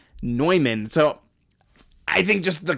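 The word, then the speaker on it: Neumann: name of the mathematician the mathematician is John Van nman not Newman in fact you can go to the Wikipedia page and it shows you how to pronounce his name noyman so I think just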